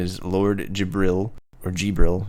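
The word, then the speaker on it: Djibril: his name is Lord jibril or jibril you say gibral gibral it's jabril jibril all right Lord D is silent Brian come on you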